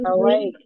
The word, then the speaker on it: Hawaii: Hawaii. Oke, karena ini Hawaii. dibacanya juga emang I-nya lebih ditekan ya.